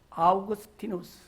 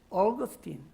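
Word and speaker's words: Augustine: 그때 당시 로마의 이름으로 아우구스티누스, 영어 발음으로 어거스틴.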